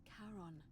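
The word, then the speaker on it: Charon: The name you heard wasn't Karen. It was C H A R O N. As in Kon, the fairyman of the dead.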